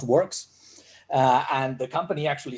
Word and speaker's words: WRKS: not um so uh wrks is pronounced works uh and the company